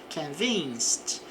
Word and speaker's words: convinced: adjetivo, então estou convencido, convinced. Observe que o ED vai ter um som de T aqui, devido à terminação em C, em CE.